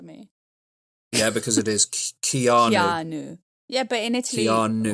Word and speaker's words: Keanu: It's funny, most of my life I called him Keanu Reeves, and then in England everybody took the piss out of me. Yeah, because it is Keanu.